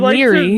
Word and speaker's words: Laoghaire: It is spelled Laoghaire. Leary.